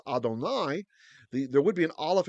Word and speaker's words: Adonai: a patach here because they knew we should pronounce this word as Adonai.